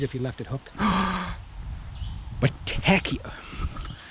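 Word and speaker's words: Bottecchia: Battecchia. Say it with me. This is how you say in Italia. Battecchia. Battecchia. It's not Botticcia, it's Battecchia.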